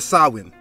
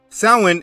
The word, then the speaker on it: Samhain: Now, the word doesn't look how it's pronounced. Samhain is a night celebrating death and hell.